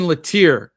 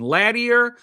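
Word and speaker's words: Latour: So, it's Jason Latir. I don't know what I said last week. If I said Jason Ladier or Jason Lattier, I don't know what I said, but it's Jason Latir.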